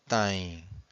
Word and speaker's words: têm: And every time you have a syllable that ends with a vowel M or vowel N, you have a nasal sound.